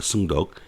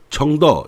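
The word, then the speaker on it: 承德: 승덕, 청더 이렇게 발음을 하는데 이 성덕이라고 하는 곳과 여기는 다른 곳입니다.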